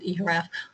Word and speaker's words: eHRAF: or wanting to, and this is the way we pronounce it, eHRAF. There are different ways to pronounce it. eHRAF, but I think that's far too long to pronounce, so I will always reference our database as eHRAF.